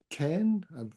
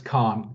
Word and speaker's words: Khan: And then Ken, apologies if I mispronounced your name there. Uh it's K it's Khan.